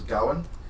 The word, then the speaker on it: Gawain: And didn't we figure out that the pronunciation was Gowan? Yeah, I think the proper Welsh pronunciation is Gawain.